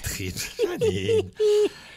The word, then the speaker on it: thrips: C'est les trips, ça se dit. C'est ça. C'est pas les trips, c'est les T-H-R-I-P-S. trips.